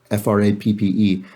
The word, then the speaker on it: frappe: And Laura Sexton says, in Massachusetts, milkshakes with ice cream are called frap, pronounced frap for this use, she says.